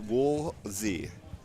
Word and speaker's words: Woolsey: So it is pronounced Woolsey. Hello, Mr. Rock. There's no second L.